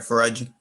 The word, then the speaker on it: Faraji: You said it right, Faraji.